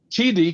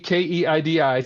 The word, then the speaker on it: Keidi: Next time, Keidi, Keidi, sounds like Speedy. Okay, Keidi.